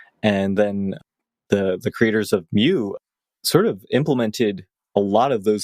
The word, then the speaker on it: Mu: and you kind of centered initially on the Mu editor. I'm thinking that's how it's pronounced.